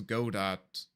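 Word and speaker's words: Godot: This is go dot as they say in German. Go dot. That's pronounced goodo.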